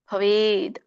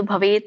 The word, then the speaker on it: ಭವೇತ್: ಭವೇದ್ ವ್ಯಂಜನ ಇದೆ, ಅದು ಭವೇತ್ ಅಂತ ಬರುತ್ತೆ. ಕೆಲವೊಮ್ಮೆ ಹೇಳುವಾಗ ಭವೇದ್ ಅಂತ ಹೇಳ್ತಾರೆ, ಯಾಕಂದ್ರೆ ಕೂಡಿ ಹೇಳುವಾಗ ಭವೇದ್ ಅಂತ ಆಗತ್ತೆ, ಬಿಡಿಸಿ ಹೇಳುವಾಗ ಭವೇತ್ ಅಂತ ಹೇಳ್ತಾರೆ.